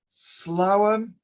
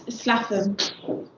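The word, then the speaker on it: Swaffham: No conflict with the Slowham, or is it Sluffham? How do you pronounce that? It's Slaffham. Slaffham.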